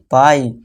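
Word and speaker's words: pie: अब third rule देखिए, जब लास्ट में आई ई आए तो आई ई का उच्चारण आई जैसे ही करना है। आई ई आ गया तो इसे क्या अपनाएंगे पाई, टी आई आ गया फिर से टाई, पाई टाई, ठीक है दोस्तों।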